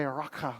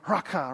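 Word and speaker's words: Raca: um let's it actually you say it like this you say raaka like that just say it with me everyone just ready raaka right come on do it again really loud like raaka right see how you kind of get a little flam on the back of your throat when you do that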